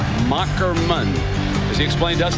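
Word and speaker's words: Moherman: the name is pronounced mockerman as he explained to us that's old German with the H is a k 63 215 lb completed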